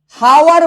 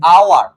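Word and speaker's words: hour: এই যে দেখো, হাওয়ার বলি না, আমরা কি বলি? আওয়ার। তো উচ্চারণটা কার? এইচ এর নাকি ও এর? ভাইয়া উচ্চারণটা কিন্তু ও এর।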